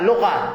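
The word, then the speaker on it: لغة: Iqra lugha, laisa ligha.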